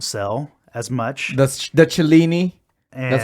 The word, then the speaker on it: Cellini: That's the Cellini. And, That's how you pronounce it, by the way. Cellini. Cellini.